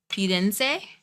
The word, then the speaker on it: Firenze: In Italian, vowels A, E, I, O, U get pronounced A, E, O, U. So the I in very E sounding. Firenze. See, and I'm giving the R a different pronunciation.